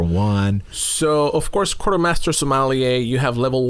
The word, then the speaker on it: sommelier: So you are a sommelier.